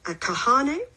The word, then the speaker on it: Kahane: whether his name was Kahane or Kahane, and this was his response. My name's pronounced Kahane. A very funny story, because it's spelled exactly the same as a common Sutu name, Kahane.